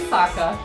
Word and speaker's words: Sokka: That's right, I'm Sokka. It's pronounced with an aka.